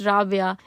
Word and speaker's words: Rabia: Rabia की ढोलकी, and Rabia and Rabia have different spelling and different pronunciation. I thought it would be very evident to everyone that it's Rabia, and I never gave